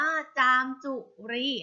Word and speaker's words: จามจุรี: ค่ะ จามจุรี นะ คะ จำ จุรี อ่าน ว่า จามจุรี นะ คะ หนู ก็